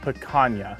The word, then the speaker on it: picanha: a little bit about what is paga it's pronounced PCA PCA PCA is a fun cut of beef